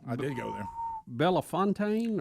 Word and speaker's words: Bellefontaine: Belafontaine or Belafonte? How do you say that? Bellefontaine. If you're from Missouri.